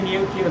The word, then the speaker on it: Neokyo: new territory new q i'm going to say new cube because it kind of rhymes with tokyo um i'm coming down